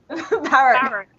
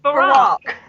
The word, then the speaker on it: Barack: Barrack. What? Barrack? Barrack? Barrack. Oh, for fuck's sake. Can't say it. Barry was saying it wrong. Oh no, it's Barack. That's not right if you say it like that.